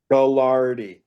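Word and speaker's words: Gagliardi: The two-time Galardi winner, national champion quarterback is back on staff for the Purple Raiders. Galardi.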